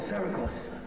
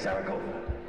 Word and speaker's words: Zaragoza: And he found himself alone in a sea of people in a city called Zaragoza. How you say it? Zaragoza?